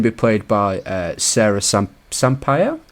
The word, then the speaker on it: Sampaio: She's going to be played by Sarah Sampaio. I believe you say her name. Right. Yeah, Sampaio. Yeah, Sampaio. That sounds about right.